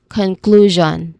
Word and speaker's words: conclusion: So we say it as conclusion. Again conclusion. So say the whole phrase as draw a conclusion. Make sure to hold the draw sound clearly and stress the middle syllable of conclusion.